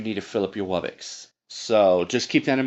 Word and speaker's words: Wubbox: Actually, no, I pronounce them Wubbox.